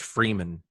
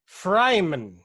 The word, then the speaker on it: Freeman: And it's, well, his name's also, you know, it's pronounced like it's spelled, so it's pretty easy to figure out. But how does one mispronounce Rich Freeman?